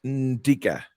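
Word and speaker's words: Ndicka: interested the n in and Digger isn't pronounced phonetically it's like on uh it's ndica okay so it's an African name Indica so there you go um it's not uh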